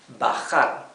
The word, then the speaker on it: bajar: Okay, and we have the verb bajar, bajar. Remember that letter J in Spanish is pronounced like a very rough H in English, okay?